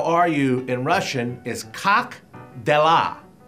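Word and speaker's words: как дела: I'm from Belarus, and I'm here to help Ron to pronounce those words correctly. Okay. The way you say, how are you in Russian is Cock Dellah. Cock Dellah.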